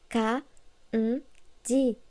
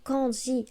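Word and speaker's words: 漢字: Tout comme le mot kanji se prononce ka, ji et non kanji avec le son en.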